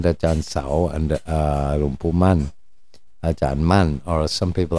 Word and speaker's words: Mun: Ajahn Man, or as some people like to spell it, Mun, M-U-N, Mun, because man, in London you say man,